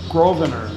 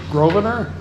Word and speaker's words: Grosvenor: best gross winner the s in my last name is Silent Hill Grove inner grovener grovener okay Grosvenor P.S